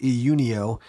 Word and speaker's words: Iunio: that same company which I believe it's pronounced EU neo contacted me and said